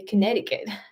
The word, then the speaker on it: Connecticut: love that word because you guys have a c in the middle that you never pronounce and they never know why you guys to write the C even though you say Connecticut oh my goodness anyway oh